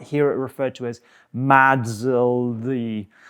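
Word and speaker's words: MASLD: You don't really need to know about that, but you might hear it referred to as MADSLD. That's literally how we pronounce it now.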